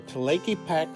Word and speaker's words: Tlaquepaque: We found a nice restaurant in the Tlaquepaque Village for lunch. (Spanish pronunciation: ).